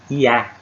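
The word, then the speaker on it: יה: Que a pronúncia é Iá.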